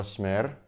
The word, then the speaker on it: Smer: It's itsSeanDaniel here, and we are with some young people, Zala and Tim from Smer. Did I pronounce that right?